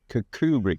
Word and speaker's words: Kirkcudbright: Kirkcudbright. Pronounced properly, Kirkcudbright, according to one of the locals we were just talking to.